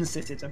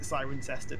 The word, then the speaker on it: Cirencester: People in Sysitter pronounce it Cirencester these days, because they've just given up explaining to people.